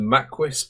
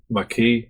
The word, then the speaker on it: Maquis: season 2 episode 21 the maist part two or Maki if you want to pronounce it correctly I believe it's m